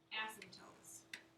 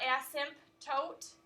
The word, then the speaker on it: asymptote: n asym PT OTE it's silent you don't pronounce it it's not asked him Toth it's an asymptote asked